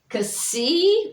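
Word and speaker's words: xi: And then we have Kasi, which is kind of a KS or an X, like it as in box, BOX.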